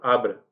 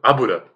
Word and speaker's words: Abra: Eu tava vendo, a escrita é Doutor Abra, mas a pronúncia é Doutor Abura.